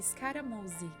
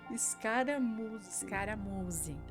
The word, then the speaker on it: Scaramuzzi: realmente ele enrosca um pouquinho, é Scaramuzzi. Scaramuzzi.